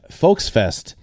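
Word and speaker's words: Volksfest: of stutgart you have folks Fest uh which is spelled with a V the V is an F sound in case you're wondering and this is actually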